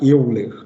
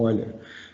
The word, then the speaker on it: Euler: Tem gente que fala Euler. A gente até escreve em português Euler, mas em alemão é Euler, né? A pronúncia certa é Euler.